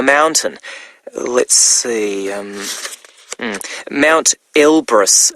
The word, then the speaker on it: Elbrus: went up a mountain let's see um Mount ilbris it's called wow now that's really quite something by the way Elbrus is spelled e l b r o s isn't